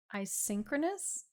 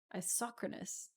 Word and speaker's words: isochronous: oh yeah dr professor you knew asynchronous but it's not spelled sync it's spelled isochronous do you really say asynchronous doctor professors drunk talking